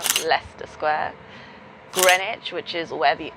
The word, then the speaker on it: Leicester Square: Leicester Square, which is not said Leicester, Leicester Square. Greenwich, which is where the O2 and the cable cars are. It's spelled Greenwich, but it's said Greenwich.